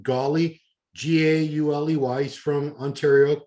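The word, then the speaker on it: Gauley: of until today they pronounced his name aaron it's spelled e-i-r-e-n last name golly g-a-u-l-e-y he's from ontario right there in canada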